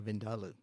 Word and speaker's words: vindaloo: Is that how you say it? Vindalu. Vindaloo. Yeah. Oh, we say it all the whole wrong way. You put the empasis on a completely different vindalu.